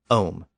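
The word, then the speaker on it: homme: is an English word instead he used the French word om spelled h m m e so since the vassel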